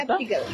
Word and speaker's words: skeptical: Skeptical. স্কেপটিক্যাল। যারা যারা শুনছেন, উচ্চারণটা স্কেপটিক্যাল না হয়ে এটা হবে স্কেপটিক্যাল, ক দিয়ে হবে, রাইট?